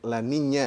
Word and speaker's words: La Niña: Ada masanya kalau N-nya itu sebenarnya dibacanya La Niña ya, El Niño. Karena ada N-nya itu ada tilde-nya. Ada curug di atasnya.